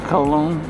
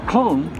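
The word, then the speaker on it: Köln: main station here in colog Germany and it's pronounced clone not col uh here anyway uh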